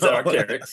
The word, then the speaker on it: Arc'teryx: So my shirts, I really am kind of fond of the Arc'teryx. Okay, Arc'teryx. I'm a biologist, and it Yep. looks a lot like an Arc'teryx. It's Arc'teryx.